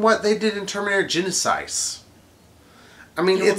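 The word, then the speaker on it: Genisys: Grammatically, it would be pronounced that way, because the Y wouldn't get pronounced like a normal Y. Or it would get pronounced like a normal Y instead of the E sound like they think, or whatever. It's Genesis.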